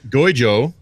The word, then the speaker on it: Guizhou: Apple's partnering with Chinese Guizhou. I looked it up. That's the correct pronunciation.